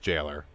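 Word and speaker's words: gaoler: It's actually pronounced jailer. It's right, Oh. that's how you spell jail way back in the day, man.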